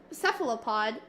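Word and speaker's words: cephalopod: So for uh seph sephalopod, I need to like listen to that pronounced.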